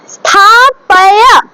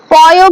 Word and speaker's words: স্থাপয়া: তারপর স্থাপয়া, পয় বলবো না, স্থাপয়া, ঠিক আছে, স্থাপয়া, ঠিক আছে। দেখো বাংলাতে লিখছি বটে কিন্তু এগুলোকে মনে রাখতে হবে এগুলো কি সংস্কৃত, তাহলে এটা সংস্কৃত ভাবে যদি উচ্চারণ করি স্থা পা STHAPAYA হয়, ঠিক আছে, এইটা হবে উচ্চারণ স্থাপায়া, ঠিক আছে, পায়া, পয় নয়।